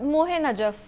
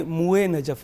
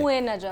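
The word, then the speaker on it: موئے نجف: नहीं, ये मुए नजफ है, अच्छा, हे नहीं है। मुए नजफ, जी, ठीक है।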